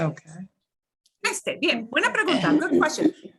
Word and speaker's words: este: Not Okay. iste, Mhm. not este, you know, este. Este. Okay. Este.